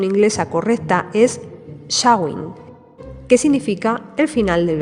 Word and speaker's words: Samhain: Bueno, yo lo he pronunciado como Samain porque es como normalmente se suele pronunciar aquí en España, especialmente en la zona de Galicia, aunque su pronunciación inglesa correcta es Samhain, que significa el final del verano.